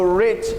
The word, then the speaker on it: writ: de injunção constitucional no Writ of Injunction. O Writ of Injunction se pronuncia assim, writ, não é right, tá?